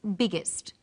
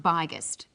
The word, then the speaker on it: biggest: extra G that's right the extra G tells us that the word is pronounced biggest and not byest what's another example hot